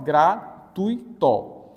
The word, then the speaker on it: gratuito: Professor, em gratuito, por exemplo, você vai pronunciar, ó, gratuito. O som do U é mais forte, então, gente, esse U aqui é a vogal e o I aqui é a semivogal.